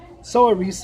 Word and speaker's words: Saoirse: Soa Reese is how you kind of spell it, and it's misspelled as Saoirse.